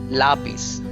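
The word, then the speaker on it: lápiz: particular letter and say lapis similarly lampara so if there are accent marks on a particular boil then you should stress there while pronouncing lapis lampara libro lapis means pencil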